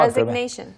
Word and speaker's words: resignation: 한번 resignation. 다시 한 번만요. Resignation. Resignation. 이걸 resignation. Right, not resignation. Resig is very like resig. It's not even a full g. It's like a g.